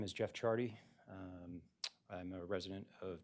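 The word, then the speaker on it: Ciardi: him state calls Jeff Chardy and that is pronounced C or spelled excuse me C I A R D I thank you Good afternoon, sir.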